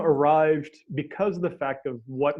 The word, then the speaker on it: Arryved: and the spelling because it's pronounced arrived right and the spelling of